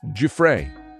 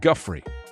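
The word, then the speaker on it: Giuffre: suing prince andrew virginia du frey not guthrie as some people say virginia guthrie juffrey i love the fact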